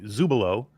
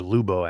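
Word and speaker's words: Zulubo: Vertigo 2, the sequel to Vertigo, by Zubolo. Zach Brown, he's a indie developer, and there's Zalubo, actually. I always pronounce that wrong.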